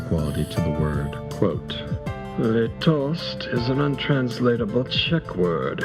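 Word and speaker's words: litost: quote le toast is an untransatable check word. Its first syllable which is long and stressed sounds like the whale of an abandoned dog.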